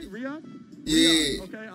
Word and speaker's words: Riyadh: Riyadh? Yeah. Okay, I like that. I know it because of let's review, because these are coming boxing from and everything. Ready. Investing, burrito, misconception, King Kong, Riyadh.